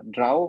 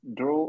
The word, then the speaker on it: draw: then we have draw it's not uh drow but w is silent so it's draw or draw okay depending